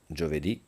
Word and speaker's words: giovedì: So, don't say giovedì or giovedì. You see the accent on the last syllable, and you have to say it there. Lunedì, martedì, that's the cadence you need to have.